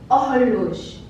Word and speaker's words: horloge: So beginning with the first word, it is not horloge, horloge, it is horloge, horloge. This H is silent.